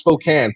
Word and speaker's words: Spokane: Spokane, it's pronounced Spokane.